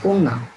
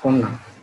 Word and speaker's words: কন্যা: তো আমরা পরীক্ষার প্রশ্নপত্রে প্রায় সময় দেখি এই কন্যা, এটা কিন্তু পরীক্ষায় আসে। কাজে উচ্চারণের ক্ষেত্রে আমরা এটা সঠিক উচ্চারণ করব। এটা লেখা আছে পদন্তন জফলা আকার কন্যা, আমরা উচ্চারণ করব কন্যা।